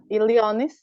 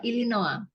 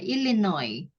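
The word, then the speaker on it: Illinois: Amerika gitu ya Iya illinoi bacanya illinoi s-nya malah enggak kebaca kan ilinoi s-nya enggak ilinoi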